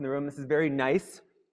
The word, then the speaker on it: gneiss: room, this is very gneiss. This is a rock spelled with a silent G, spelled gneiss, G-N-E-I-S-S.